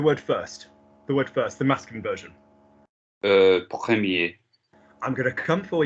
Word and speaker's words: premier: They're just words that are commonly mispronounced, like, because commonly what happens is premier, as we've just seen, or dernier, or petit, and it's not. It's premier, première, dernier, dernière, petit, petite.